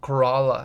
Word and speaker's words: Corolla: I went to Corolla. Corala, as the locals say it.